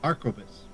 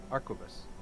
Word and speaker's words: arquebus: barrel one of these i just did the pronunciation and it says arcobus arquebus okay our codex there we